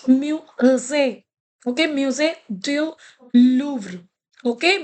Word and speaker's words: musée: I have already taught you here how whenever this is there, the l'accent इसको accent कहते हैं accent, then it has the sound a. That's why I'm pronouncing it musée.